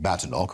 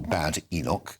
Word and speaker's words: Badenoch: as she likes to, does not like to be called Badenoch or Bad Enoch. I should let you know it's Badenoch is the way she likes her name to be pronounced.